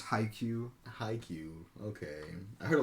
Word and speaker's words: Haikyuu: I don't even know how to pronounce that one. Hakiyu? No, they use it right. Pretty sure it's Haikyuu.